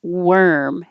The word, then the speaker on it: worm: the little animal it's worm it looks like an or and sounds like an er worm warmth warm worm